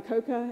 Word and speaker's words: Akoka: So there was also a story that meant something to me about the clarinetist in the group with Messiaen Akoka, am I saying it correctly?